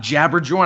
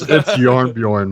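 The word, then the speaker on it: Jarnbjorn: I got Jabberjorn. I picked all the best perks. It's Yarnbjorn, man. Jabberjorn. It's Yarn. They're pronounced as Y's, man.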